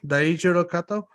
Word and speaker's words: Daijiro Kato: The death of let me pronounce his name right. Daijiro Kato, Daijiro Kato.